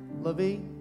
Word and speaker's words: LaVie: LaVie?